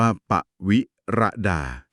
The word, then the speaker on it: ปวิรดา: ว่า ปวิรดา นะ ครับ อ่าน ว่า ปวิรดา ค่ะ คุณ ปวิรดา